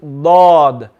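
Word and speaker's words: ض: with a heavy mouth so you're not gonna say but it's gonna be lord lord everyone say it lord exactly yes marshall very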